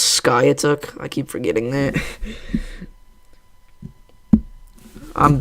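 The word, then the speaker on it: Skiatook: glue bottle and it was very embarrassing it's pronounced Sky took I keep forgetting that I'm bad at uh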